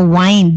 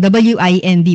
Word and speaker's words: wind: Kasi dalawa po yung pronunciation natin no ng W I N D. Pwede siyang wind as in moving air. Pwede rin siyang wind as in the verb where you're winding up something like a music box 'di ba?